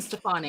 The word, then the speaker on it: Stefani: thank you so zan how would you pronounce gwen stefani that's what matt wants to know there you go there's your answer gwen stefani yeah yeah is that